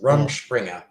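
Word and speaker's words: Rumspringa: the pronunciation was painful it's rum Springer rumspringer that's that's like not room a beer beer something you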